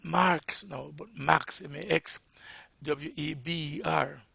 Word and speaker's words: Weber: now, but Max, M-A-X, W-E-B-E-R. That is not pronounced Weber. It is pronounced Weber. It's German.